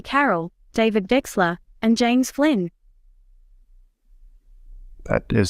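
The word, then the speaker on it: Wechsler: Carroll, David Wexler, and James Flynn. That is so cool. You even pronounced Wexler correctly.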